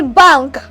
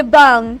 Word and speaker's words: bang: I say bank, but I say bang, not bank. I say what? Bank and bang. So in pronouncing bang, my G is word silent, but rather there's a word present of the sound. While in my bank, I have the and then mark sound at the end.